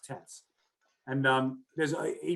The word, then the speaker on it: This: his last name it's about this but it's pronounced tess and um there's a he breaks down each